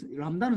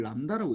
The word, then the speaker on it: 람다: 람다는 상수야. 이거 이름을 람다라고 읽어. 람다. 이 그리스 문자인데 이 람다라고 읽어.